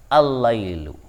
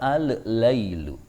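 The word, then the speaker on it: اللَّيْل: dia bertemu dengan lam makalam yang mati dimasukkan kedalam lam yang hidup Sehingga cara bacanya adalah al-lailu tidak boleh dibaca al-lailu Hai itu adalah huruf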